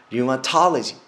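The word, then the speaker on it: rheumatology: 여러분들 어떻게 발음하냐면요. 류마 플러스 톨로지가 들어간 겁니다. 류마톨로지. 그 선생님은요. 류마톨로지스트. 이렇게 생각하시면 됩니다. 자, 마지막으로 혈액종양내과를 제가 준비해드렸습니다.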